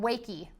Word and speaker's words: Wakey: uh this is called wakey it's wake with a a long e so wakey is this